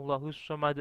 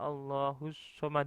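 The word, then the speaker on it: اللّٰهُ الصَّمَدُ: ahad itu asalnya atau allahussomad Itu kan asalnya ada rokat dhomah berhubung dilakukan atau berhenti pada satu ayat maka membacanya otomatis huruf ini menjadi sukun atau menjadi huruf yang mati maka membacanya adalah allahus Somad Dek Jadi bukan allahussomad uh tapi allahus Somad di contoh yang lain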